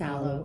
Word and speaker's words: Aloe: It's Aloe. Okay. Sometimes between maybe it's you know, sunburn lotion, or it throws me off.